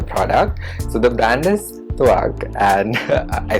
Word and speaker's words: Tvakh: So the brand is Tvakh, and I said it right this time, and this is their AHA plus BHA chemical peel.